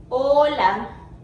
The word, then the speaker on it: hola: hola hola hola so if you notice this letter doesn't has a sound okay when you pronounce a word with this letter you're just gonna omit that later and just pronounce the next letter like hola okay so this letter